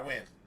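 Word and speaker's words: Wynne: I win.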